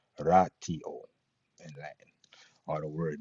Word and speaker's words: ratio: In Latin, the word rot ratio, quote unquote, is pronounced ratio in Latin.